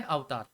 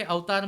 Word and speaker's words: अवतार: कहा जाता है अवतार अभी बहुत सारे लोग इस अवतार को अवतार अवतार ऐसा प्रोनाउंस करते हैं अमेरिकन लोगों की तरह लेकिन गैस मैं आपको बता डन की ये जो अवतार वर्ड है वो हमारे संस्कृत से लिया गया है तो इसको मैं अवतार ही कहूंगा जैसे कहा